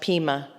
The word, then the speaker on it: Pema: I've watched some interviews with, I think it's pronounced Pema, P-E-M-A, Chodron, C-H-O-D-R-O-N.